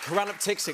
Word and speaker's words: choranaptyxic: How do you pronounce it? Koranaptixik. I love that you Koranaptixik.